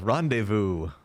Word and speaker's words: rendezvous: respond I was like Rendezvous that's a silency oh the Z is silent I'll just use it